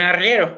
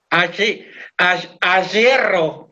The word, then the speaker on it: arriero: Un arriero, un ayerro. Ayerro. ¡Ah! Es difícil imitar esa R que tienen en las provincias norteñas.